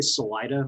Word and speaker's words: Salida: It's they say Salida locally, and Buena Vista, which is the most perverse twisting of a Spanish word I've ever heard.